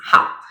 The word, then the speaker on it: 好: This Chinese character has several meanings and several pronunciations. So when you use as adjective, it is how means good.